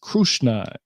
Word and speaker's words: Krishna: it says uh that Krishna though in in most of peninsula of India the name is in fact pronounced krushna k r u h